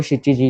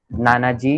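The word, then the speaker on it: 七時: वैसे ही 7 के दो क्यों, 7 को शिची जी यूज किया, नाना जी नहीं बोल सकते। ओके, 7 को आप शिची जी बोलोगे।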